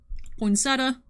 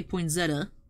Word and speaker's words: poinsettia: out that was cool poinsettia which i have such difficulty pronouncing properly i tend to say poinzetta like with a z which is obviously not correct but i don't know